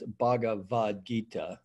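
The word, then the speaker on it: Bhagavad Gita: I did notice that you you tried different pronunciations I don't know why that's so odd is and if I remember that it's bhagavad-gita mm-hmm right and just make the vaad like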